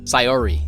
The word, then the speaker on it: Sayori: Sayori.